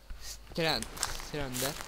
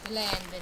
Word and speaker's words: Slender: su Strender. Slender, idiota. Strender. Vabbè, Slender. Strender. O come cacchio si pronuncia.